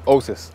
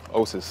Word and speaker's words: Osas: Osas. Osas is the name. Osas. Osariehi is full pronunciation, but yeah, Osas.